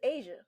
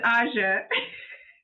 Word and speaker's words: Aja: stop you right there so do you pronounce your name AA or you pronounce it Asia it's AA I didn't want to